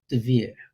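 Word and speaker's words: דביר: It's this, and it's pronounced Devere.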